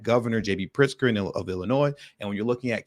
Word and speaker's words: Illinois: yes bit the community I know the S is silent but that's not how I say it I say Illinois with a hard s and it just is